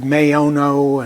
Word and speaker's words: Maono: I've heard MAONO and a few other approaches. I take the Latin language approach, short A, long O, MAONO.